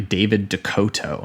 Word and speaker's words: David DeCoteau: his last name too it is apparently david dakoto which surprised me because i was not that was not how i said it on slime ball